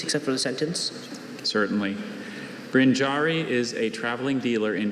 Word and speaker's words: brinjarry: Brinjari is a traveling dealer in grain and salt in India. Brinjari is a noun, and it's from Sanskrit-derived Hindi.